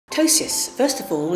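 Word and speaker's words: ptosis: tosis first of all it's an unusual word it's spelled p t o s i s and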